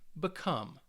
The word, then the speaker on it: become: But if the verb has 2 syllables for most of the time, it's going to be on that second syllable.